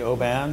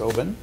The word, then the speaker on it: Oban: Some people say Oban, some people say Oban. If you live there, it's Oban. Just think oboe, think of fog coming in, oboe.